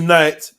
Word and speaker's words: knight: Before the 15th century Old English, the K was actually pronounced. What? In this era, you would have said, I cano, the knight will knock on the knave's door with his knife before entering.